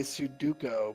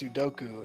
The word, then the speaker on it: Sudoku: dads say Sudoku, but it's Sudoku. That's because those syllables in the middle are so foreign that they just kind of don't read it, and then they just stick with whatever they think it is.